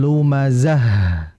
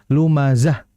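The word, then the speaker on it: لمزة: Maka dalam membaca H-nya harus dialirkan ya dengan desisan. Wailul likulli humazatil lumazah. Bukan lumazah.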